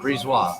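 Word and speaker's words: BriseBois: it is it pronounced Brees wha the second B is silent it's Julian please wah breeze wah okay we'll see how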